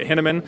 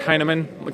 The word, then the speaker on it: Hinaman: A lot of people pronounce it Hinaman, and that's incorrect. It's Hinaman. Kind of like, hey man, are you high?